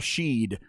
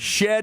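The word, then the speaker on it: Shead: the national folks go back to saying Jamal Sheed let's uh let's get it figured out shed is his name he is a badass on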